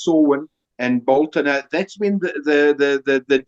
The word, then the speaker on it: Samhain: And you're quite right, there was a belief, especially amongst the ancient Celts, of Samhain, It's spelled Samhain, but it's pronounced Samhain and Bolton.